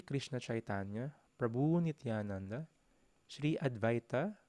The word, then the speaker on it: Advaita: So the pronunciation is Jaya Shri Krishna Chaitanya Prabhu Nityananda Shri Advaita, so yung W, V yung pronunciation. Shri Advaita Gadadhara Shri Vashadi Gaura Bhaktivinoda. Or pwede rin Adwaita. So, goes on two ways siya.